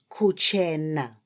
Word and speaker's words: kuchena: Yes, friends, let's say kuchena.